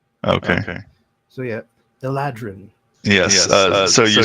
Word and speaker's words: Eladrin: Well, you said Eldarin. I wasn't sure if you were doing that intentionally or... I got the A and the D switched around there. Okay. So yeah, Eladrin.